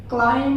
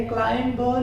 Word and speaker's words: climb: यहाँ पर थम, THUMB, थम ब नहीं पढ़ते, थम पढ़ते हैं, CLIMB, क्लाइम पढ़ेंगे, क्लाइम ब नहीं पढ़ेंगे।